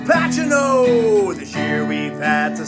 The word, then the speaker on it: Pacino: camino now papa jake he had trouble pronouncing the name al pacino it's pachino this year we've had